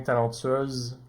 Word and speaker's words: talentueuse: Au masculin, talentueux, le X est muet, tandis qu'au féminin, talentueuse, le S se prononce comme un Z.